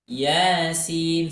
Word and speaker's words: Yasin: membaca Quran surah Yasin huruf ynya cukup dibaca Dua harakat ya walaupun nanti tanda fathah berdiri ini tidak ada ya walaupun tanda fathah berdirinya tidak tidak ada teman-teman harus tetap membacanya dua dua harakat Yasin seperti itu ya baik lanjut